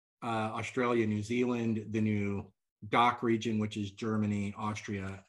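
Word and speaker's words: DACH: we launch and but you have to say it properly it's doctor well I'll tell you why I can't say that currently so say it like a German it's doc uh trust me you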